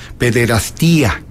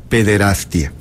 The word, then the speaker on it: pederastia: Por cierto, muchos les gusta pronunciar pederastia con yato, ia, pederastía. El término correcto es pederastia.